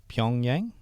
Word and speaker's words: Pyongyang: Pyongyang?